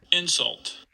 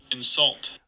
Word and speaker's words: insult: So in the noun version, we get stress on the first syllable. In the verb version, we get stress on the second syllable, and it sounds like this. Insult. Insult.